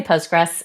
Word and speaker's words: Postgres: Just say Postgress and that keeps it simple. But yes, when you when you spell it with the full official name, there is a there is a QL tagged on to the very end of it.